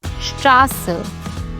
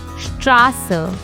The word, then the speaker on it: Straße: This SZ looks like a fancy B, but it actually makes a sharp SS sound. For example, Straße, which means street. Let's pronounce it again. Straße.